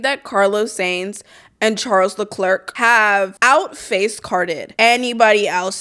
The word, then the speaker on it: Leclerc: Charles Leclerc.